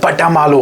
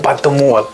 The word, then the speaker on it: Batamaloo: और इस एरिया का नाम भी पड़ा है इन्हीं के नाम से, बटा मालू, हालांकि जिसकी असली प्रोनाउंसिएशन है बतमोल।